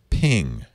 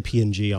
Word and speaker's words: PNG: How do you pronounce ping? Ping. Okay. Or sometimes I'll say PNG, honestly.